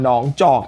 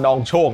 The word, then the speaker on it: หนองจอก: โคจร มา เจอ กับ บ้าน หนองจอก ที่ หลาย คน อ่าน ว่า บ้าน นอง โชค นั่น แหละ ง้ง ๆ